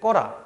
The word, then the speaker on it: 꺼라: 그 다음에 두 번째 사례 끄 플러스 아라어라일 때 마찬가지로 이 으라는 친구가 음성이기 때문에 어라를 선택해서 끄어란데 이때 으가 탈락하기 때문에 꺼라 이렇게 되고요.